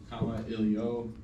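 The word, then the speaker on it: Kamailio: common ilio um so I have a pronunciation there at the bottom comma ilio it's a Hawaiian word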